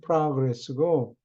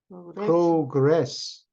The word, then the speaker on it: progress: 이거는 발음을 progress, 명사일 때는 progress고, 동사일 때는 progress.